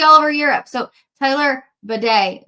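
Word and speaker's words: Badie: the club of its bidet. So I think it's like bidet, like what we see all over Europe.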